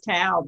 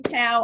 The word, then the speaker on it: Toa: those things but again i think your name is tao because it rhymes with wow that's what i think